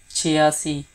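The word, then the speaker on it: چھیاسی: 86, chiasi, chiasi. First say che, which is 6, and then say asi, chia, but combine the sound chia and then si, chia si.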